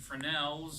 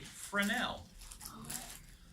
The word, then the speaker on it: Fresnel: On some other instruments like this Ullman and Fresnels and things like that, if you hang them upside down, the color frame just falls out.